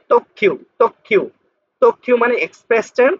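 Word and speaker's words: 特急: তারপর হলো এই যে তো আর এখানে ছোট আছে, তাহলে এই কিউটা দুইবার উচ্চারণ হবে, যেহেতু এখানে ছোট সু আছে। তক্ষিউ তক্ষিউ তক্ষিউ মানে এক্সপ্রেস ট্রেন, অত্যধিক দ্রুতগতির ট্রেন।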